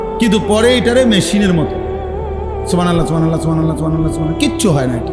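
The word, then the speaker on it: سبحان الله: পরে এটারে মেশিনের মতো সুবহানাল্লাহ সুবহানাল্লাহ সুবহানাল্লাহ সুবহানাল্লাহ সুবহানাল্লাহ, কিচ্ছু হয় না। হা উচ্চারণ না হলে তো তাসবিহ হয় নাই। শেষের গোল হাটা সাকিন করতে হবে এবং প্রত্যেকবারই নিঃশ্বাস ফেলতে হবে।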